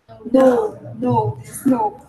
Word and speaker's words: know: Well, first, No. Now is different. Now is at this moment. You spell it N-O-W. And this is K-N-O-W, but you don't pronounce the K. You just say no.